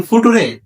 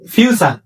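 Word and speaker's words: future: ইউ আরে আসলে কি এটার উচ্চারণ ফুট না এটার উচ্চারণ ফিউচার আর এটার উচ্চারণ টেন্স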